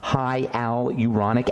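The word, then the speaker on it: hyaluronic: slowly because it's somewhat hard to produce to pronounce hialuronic acid hialuronic acid is a really important ingredient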